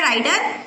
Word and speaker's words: rider: White घोड़ा आया है, बट इट हैड नो रीडर, उसके ऊपर कोई घुड़सवार नहीं है, राइडर, ठीक है, इसका प्रोनाउंसिएशन होता है राइडर।